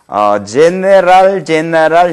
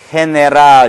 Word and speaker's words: general: 이것은 이나 아이와 어울릴 때 이런 경우는 어떻게 발음되냐? 해, 히 이와 같이 발음이 되는 거죠. 해, 히 예를 들자면 general 형태로 하면 영어식 발음이겠고 이와 어울리는 경우는 어떻게 됩니까? general 이렇게 된 거죠. 다 같이 general 그런 식으로 해나가면 됩니다.